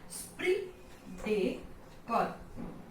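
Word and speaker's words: esprit de corps: स्प्री डे कॉर, स्प्री डे कॉर, स्प्री डेकोर, okay, स्प्री डेकोर। Now it's not crops and PS is here also silent.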